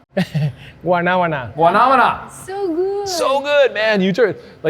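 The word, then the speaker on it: guanábana: If you can pronounce I it. I can say soursop. I know how to say soursop, but guanamana? Guanabana.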